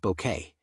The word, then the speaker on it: Bucket: With its delicious satire of class anxiety and social aspiration, the series centers on the unforgettable hyestin bucket who insists her surname is pronounced bouquet and her relentless attempts to rise above her humble beginnings.